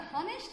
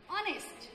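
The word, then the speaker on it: honest: Example, অনেস্ট, এখানে এইচ এর উচ্চারণ সাধারণত হ হয়, বাট এক্ষেত্রে এইচ এর উচ্চারণ হ না হয়ে অ হল। আমরা হনেস্ট না বলে কি বললাম? অনেস্ট।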